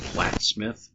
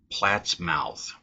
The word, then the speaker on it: Plattsmouth: I've only heard it ever pronounced Plattsmouth, and that's how everyone around here do it. But I have heard, like on a podcast, somebody say Plattsmouth, which really makes sense because north of the